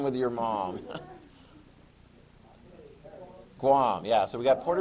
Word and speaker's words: Guam: what's the other one rhymes with your mom not your mom but mom paraguay does not rhyme with your mom guam yeah so we got